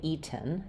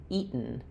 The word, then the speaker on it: eaten: I don't say eaten. That would be more British eaten. In American English, eaten. So what we're doing there is we're doing an unreleased or stopped t sound where my tongue goes